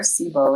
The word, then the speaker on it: SIBO: Other things, SIBO or SIBO, there, SIBO is how we pronounce that, and it's an acronym that stands for small intestinal bacterial overgrowth.